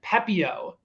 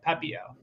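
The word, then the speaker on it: Pepiot: were going with but i think that is like the the french pronunciation i think it's also like the french cajun way too pepeo pepio hobie pitch as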